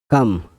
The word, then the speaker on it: calm: এখন আমরা শুরু করতে যাচ্ছি এল সাইলেন্ট লেটারের 20টি ওয়ার্ড। চলুন তাহলে শুরু করা যাক। ক্লেম, কাম, CALM, কাম মানে শান্ত।